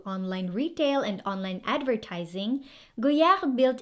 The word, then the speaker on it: Goyard: next we have again so silent d i used to pronounce this as goyard too but that's why